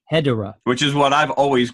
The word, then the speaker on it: Hedorah: But it is spelled Hedorah, which is very good. If you were to enunciate his name, it is Hedorah.